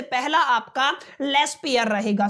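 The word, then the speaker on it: Laspeyres: इसको बोलते हो आप लोग लेस पेयर्स प्राइस इंडेक्स। ये आपका पहला तरीका है जिससे आपको कैलकुलेट करना सीखना है। लेस पेयर प्राइस इंडेक्स ये आपका पहला तरीका रहेगा।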